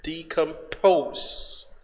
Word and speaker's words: decompose: Okay, now let's go to the other word, which is decompose. Now, decompose has three syllables. The third syllable, which is here, this is two, one. The third syllable is stressed.